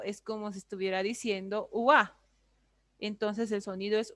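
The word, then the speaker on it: 와: Ojo, no es wa, es wa, con la boca abierta, ¿no?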